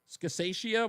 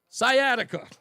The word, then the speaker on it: sciatica: Is that how I pronounce that scataceia? What? I don't even know how to pronounce that. My wife's the medical person here. That word right there. Do you know what that is? Sciatica.